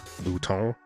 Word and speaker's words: Bouton: His name is spelled like the French word for button, Bouton, but at some point it became the more Anglo-friendly Bouton.